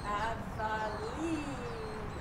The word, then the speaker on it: Avaline: And they tell you how to pronounce it. Avaline on the bottle. Avaline. Right? Avaline. Though you would expect if it's Spanish, it'd be Avaline. But anyway, Avaline.